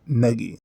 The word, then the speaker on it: Negi: and the main character Negi, even though it sounds so weird to me. I'm sure I'll still slip up every now and then, because I've been using the soft G pronunciation for 15 years now, but I promise to make an effort.